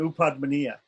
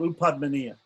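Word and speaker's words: Upadhmānīya: pa or a pa, it's called Upadmaniya. And it's pronounced like fa, like F, right?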